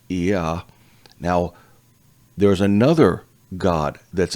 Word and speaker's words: Yah: It shows up in the Psalms a lot, but this is how the name is pronounced, Yah.